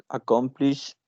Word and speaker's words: accomplish: Accomplish, it has 3 syllables, and the stress word is the second syllable.